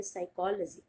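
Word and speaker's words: psychology: पी से शुरुआत होती है लेकिन पी होता है साइलेंट, और आप इसको प्रोनाउंस करोगे साइकोलॉजी।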